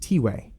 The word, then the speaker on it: Tiway: who aren't caught up it's pronounced t-way and we still don't